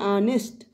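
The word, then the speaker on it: honest: है तो कंसोनेंट पर हिंदी प्रोनाउंसिएशन क्या आ रहा है? ऑनेस्ट।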